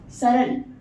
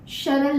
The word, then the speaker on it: सरल: सरल, शरल नहीं।